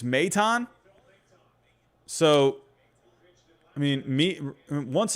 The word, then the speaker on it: Maton: you know i've always i've been calling him phil maton i guess it's meitan so i mean me